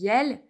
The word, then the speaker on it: iel: So, people who want to put a little more equality will perhaps use, this pronounces iel, the inclusive writing, to remind that women are also present.